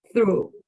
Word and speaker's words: through: this is pronunciation only this word is pronounced through Panola through different from basis uh through yeah different throw means you throw the ball landsal yeah so be